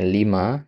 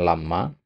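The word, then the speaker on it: لِمَا: Kemudian yang ini ya, ini bacanya lima ya, bukan lama.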